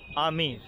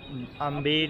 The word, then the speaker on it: Amber: इसकी स्पेलिंग थोड़ा सा कंफ्यूजिंग है, AMBER, और इसको पढ़ा जाता है बी इज़ साइलेंट आमेर, ठीक है। तो इंग्लिश में से आम्बेर या समथिंग पढ़ने की कोशिश ना करें, ठीक है। ये this is only आमेर, AMBER the pronunciation of.